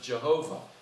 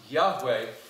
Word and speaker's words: Yahweh: Maybe you've heard it in the old days, we used to pronounce it Jehovah. We found out that's a wrong pronunciation of it. It's really pronounced Yahweh, but the name Yahweh, the name of God,